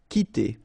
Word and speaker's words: quitter: So the idea is that this combination of Q and U together will give you the sound K, okay? So that's the reason why you get qui like that, qui, quitter, all right?